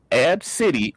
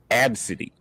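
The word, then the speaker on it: Abcde: people go with obesity ab city or just call her alphabet but now she's corrected them as all of those are wrong okay whatever her name is said that her name is pronounced absidy a-b-s-b-y okay okay explain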